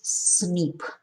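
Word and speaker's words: SNP: a single nucleotide polymorphism or cnp pronounces snip scientists are studying uh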